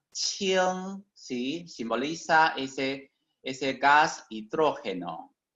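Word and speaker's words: 氢: Este carácter se pronuncia qing, ¿sí?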